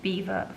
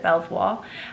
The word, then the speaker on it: Belvoir: know that I love Beaver Farm. I still giggle at the fact that I called it Belvoir and they had to tell me that I was actually pronouncing the name of their brand wrong.